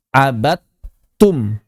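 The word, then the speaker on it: عبدتم: Cara baca wasal kan ini dalnya tidak dibaca jadi tidak diberi tanda sukun. Begitu langsung kita baca abad tum. Abad tum gitu.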